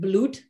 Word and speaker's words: blood: Blood, they used to pronounce it like bloed, and in Dutch bloed is blood.